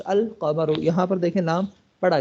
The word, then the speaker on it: القمر: کے ساتھ، اے جی القمر، the moon is pronounced القمر، یہاں پر دیکھیں نام پڑھا گیا ہے۔ Here